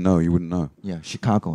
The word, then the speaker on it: Chicago: of anything in this case um updated the Chicago yep and she was saying she can't I